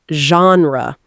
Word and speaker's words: genre: Remember, it's pronounced genre.